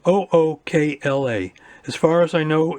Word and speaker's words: Ookla: So my ISP uses a speed app called, it's spelled OOKLA.